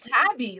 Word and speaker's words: Tabby: say your name Tabby it's Tabby like the cat all right Tabby all